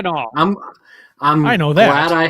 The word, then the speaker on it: Mackinac: The Maple Mackinac Fudge KBS from Founders. Did you call it Mackinac? Mackinac. Is that how you pronounce it? That's how you pronounce it. Mackinac.